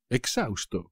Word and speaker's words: exhausto: no puedo más exhausto exhausto como siempre por supuesto la h no se pronuncia tras correr 420 metros